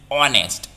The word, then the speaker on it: honest: with this pronunciation is honest the o honest vowel sound so h is here given silent honor what honor our